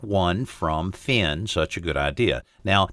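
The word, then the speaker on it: Phyn: even when you're away now that finn is spelled p-h-y-n and you can find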